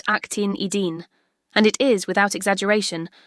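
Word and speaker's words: actinidin: That word is pronounced actin edine.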